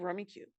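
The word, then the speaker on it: Rummikub: in the backyard but it's spelled rummy cub but it's called rummy cube according to sheila ranner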